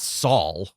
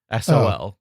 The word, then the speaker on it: Saul: By the way, he's It's not Saul. It's Saul. Like Spanish for son, I believe. Sol.